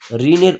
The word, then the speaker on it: ঋণ: তারপরে দেখো 3 নাম্বারটা, ঋণের উচ্চারণ। ঋণের উচ্চারণটা কিন্তু উত্তর হবে ঋণ।